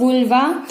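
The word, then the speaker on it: vulva: कई सारे लोग इसे वल्वा भी प्रोनाउंस करते हैं, कोई बात नहीं, आप वल्वा भी बोल सकते हो, वुल्वा भी बोल सकते हो, जैसे आपको अच्छा लगे आप प्रोनाउंस कर सकते हो।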